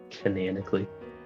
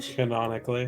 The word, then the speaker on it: canonically: How do you pronounce it then? Canonically. Canonically. Canonically. Canonically. Potato. Potato. tomato. There is not a second a cananically. It's pronounced canonically.